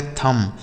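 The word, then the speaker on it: thumb: आगे लिखा है बच्चों टी एच यू एम बी। इसे पढ़ेंगे थंब। इसे थंब नहीं पढ़ेंगे। यहां पर जो बी लिखा है ना साइलेंट है। इसको नहीं पढ़ा जाता है।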